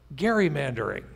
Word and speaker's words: gerrymandering: There is this phenomenon called gerrymandering. And yes, given that we're here, Rose Institute people, we all know it's pronounced with a hard G.